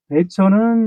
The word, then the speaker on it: 배천: 사건인데 사건의 개헌은 그 어 황해도 배천 사는 배천 이제 휠 100자 내천 자를 쓰는 그까 사실 한자 음들로 하면 천인데 우리 발음으로 우리 음으로 천으로 읽습니다 그니까 우리나라 지병